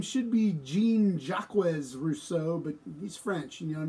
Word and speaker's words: Jean-Jacques Rousseau: Rousseau you noticed that his name should be jean-jacques Rousseau but he's French you don't have to pronounce the entire words so jean-jacques Rousseau who